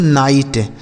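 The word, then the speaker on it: knight: तो के के साथ अगर एन होता है तो के साइलेंट होता है। तो इसे पढ़ेंगे दोस्तों नाइट।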